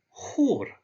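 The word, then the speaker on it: хор: Here we have the H sound, so this is hor.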